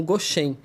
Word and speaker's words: Goshen: Como os fundadores eles são taiwaneses, eles não conseguiam pronunciar a palavra Gozen ou Gozen, pronunciavam como Goshen, mas porque esse nome também era familiar para eles, né?